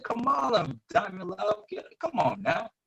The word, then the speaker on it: Kamala: Joe Biden, President-elect Joe Biden, and Vice President Kamala Harris.